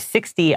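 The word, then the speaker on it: sixty: but 60 all right 60 I know it is spelled s iix t y but anywhere that's like like that number it has a t but we usually pronounce it more like a d all right so a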